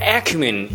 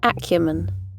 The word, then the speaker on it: acumen: Please bear in mind that the differences between the first way to pronounce and the second way to pronounce lies in the first two syllables, ækjəmən and ækju.